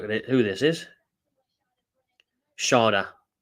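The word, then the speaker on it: Schade: That Shade's looked out now. I'm going to have a look at it. Who this is. Sharda. I'm going to keep pronouncing him Shade. I think it's better. Sharda.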